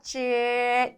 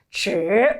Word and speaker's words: 只: 얘가 병아리로 부화가 돼서 여기 발음 조심해 주셔야 돼요. 쯔 일성으로 읽으셔야 됩니다. 쯔 오로지 단지라고 읽으시면 안 돼요.